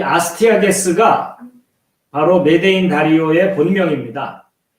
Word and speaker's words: 아스티아게스: 예, 이 아스티아게스가 바로 메대인 다리오의 본명입니다. 영어로는 발음하면 아스테이지라고 하거든요. 근데 이제 아스티아게스로 주로 표기를 했습니다.